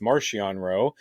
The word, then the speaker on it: Marchion Ro: Martian row marchion row I've heard it because if you listen to the audiobooks it's Martian row and I've heard people say marchion Rowe one of those atat